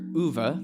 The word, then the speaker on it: Uwe: Raging Dr. Uwe, that's how it's pronounced, not Uwee.